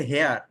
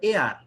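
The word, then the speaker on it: heir: এটা উচ্চারণ অনেকে বলে হেয়ার, অনেকে কি বলে? হেয়ার, উত্তরাধিকার না, এটার উচ্চারণ হলো এয়ার।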